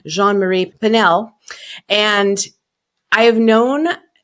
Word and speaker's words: Jeanne Marie: welcoming Jean Marie and I always say it wrong because you sound it sounds so pretty with your French accent so I'm going to do my fake French accent Jean Marie panel and I have